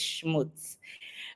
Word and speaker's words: Schmutz: I try to give some sort of a way to pronounce it, because I always have people laughing and asking me how I pronounce it. So it's Schmutz.